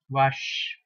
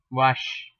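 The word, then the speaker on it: vache: q q u r l l r k pronounce the same way c means Rush wash okay English you call it as v a c h e wash and for plural form it be what CS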